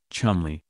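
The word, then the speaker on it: Cholmondeley: seventh Marquis of colell pronounced for God knows what reason Chumley who is 23 years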